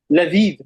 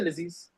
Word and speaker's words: لذيذ: People just say Laziz. Even Arabs, they say Laziz. They don't say Ladid. But its correct pronunciation is, Arabs read it like that, Lazizun. Well, it's like, khalas. Tajweed, if you want to read it with proper pronunciation, is Ladid.